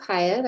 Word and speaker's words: Piat: Piatti? No, it's Piat, I believe is how it's pronounced. Hi, my name is Pyatt.